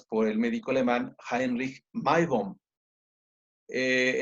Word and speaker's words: Meibom: el médico alemán heinrich maibom eh en español es un poco extraño decir maibom Bueno entonces se pronuncia tal cual entonces eh se llaman